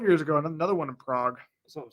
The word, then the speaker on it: Prague: uh just Northwest of Prague I'm assuming that's how you say it I think sometimes people say yeah it's Prague it's not prag unless you're from Wisconsin then you say prag but other than that